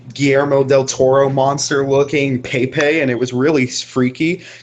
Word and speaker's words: Pepe: It's pronounced Pepe. Pepe.